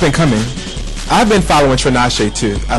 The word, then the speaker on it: Tinashe: I've been following Tinashe too. I like her. T1. Who's that? That's Ain't this Tanisha? Or it's something? Tinashe. Trina Shay? Tinashe.